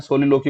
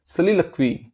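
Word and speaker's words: soliloquy: जिसकी प्रोनाउंसिएशन आपको बताया था कि हम लोग मोस्टली जो हम लोग हैं सोलिलोकी बोलते हैं, बट इसकी एग्जैक्ट प्रोनाउंसिएशन इज सलिलक्वी है इसकी।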